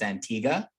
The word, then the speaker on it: Antigua: The most recent country that started listening to us is Antigua, which I think should be pronounced Antigua because it ends with G-U-A.